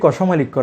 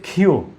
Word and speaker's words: ক্ষ: আসলে এটি কষমালিক্য নয়, এটি হচ্ছে ক্ষিয়। এই বর্ণের শুদ্ধ উচ্চারণ হলো ক্ষিয়।